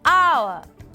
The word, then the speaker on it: hour: it's also used for words start with a silent hitch for example an honor an hour an honest man so boys and girls